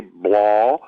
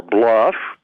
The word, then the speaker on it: Blough: is Bell Biello ugh which could be pronounced I'm gonna say Blau it could be blah or Bluff I call it blah but both of them